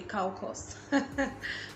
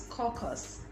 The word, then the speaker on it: caucus: you pronounce this right i know some people say cow cost but it's caucus caucus a closed political